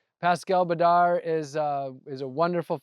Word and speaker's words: Badar: How do you pronounce Pascal's last name? Badar. Pascal Badar is uh is a wonderful forager here in Southern California.